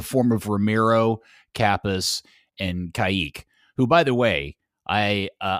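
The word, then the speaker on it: Kaick: listen to him say it, and he says Kayik.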